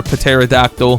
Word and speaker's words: pterodactyl: We're about to get tempestuous though, hopefully from our pterodactyl. Also, before anyone says anything, I know the P is silent, but it just sounds funnier, you know?